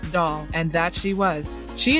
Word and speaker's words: Dahl: this Midwestern actress had a last name pronounced doll and that she was